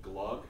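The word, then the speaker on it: glögg: It's called glug. It's spelled G-L-O-G-G, and the O is kind of like a U.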